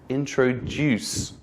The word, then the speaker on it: introduce: out loud for example the word introduce is pronounced with a stress at the end so it sounds like this introduced so you can just